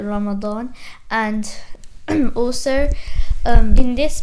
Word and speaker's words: Ramadan: the arabic word so some people pronounce it differently as well it's like in urdu that some people say ramazan ramzan or something like